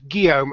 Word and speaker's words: Guillaume: And today's guest is Will the French, or his proper name is actually Guillaume, and hopefully I pronounced that correctly.